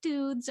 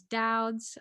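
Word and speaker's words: Doud's: it yeah it's dad's a lot of people like to pronounce it dudes i am here to correct you it is doubts okay glad i said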